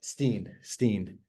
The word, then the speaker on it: Hootstein: So happy to be joined by Chicago Med writer Stephen Hootstein. Hootstein or Hootstein? I never say it right. Oh, well, Steen. Yes. Steen, okay.